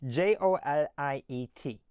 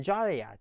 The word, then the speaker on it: Joliet: So, as you can see on the sign, it's J O L I E T. Now, you may ask why is it pronounced Joliet rather than Jolliat?